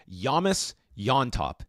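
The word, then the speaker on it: James Llontop: This is going to be a 165-pound catchweight fight with Yamis Yontop, as his pronunciation from his mouth pronounces his name.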